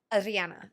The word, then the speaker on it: Ariana: It's Ariana. You know how to roll your Rs? Can you roll your Rs on a single syllable?